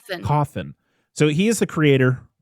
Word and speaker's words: Cawthon: Cawthon.